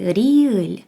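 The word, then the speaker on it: 리을: конкретно цю літеру звати ріль ім'я літери нам власне і говорить як ми можемо її вимовляти це не проста літера вона вимовляється або р або ль е коли як ми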